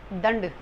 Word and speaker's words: दंड: इन 5 रूपों में इसका अनुस्वार का उच्चारण होता है। जैसे आप एग्जाम्पल देख सकते हैं, दंड।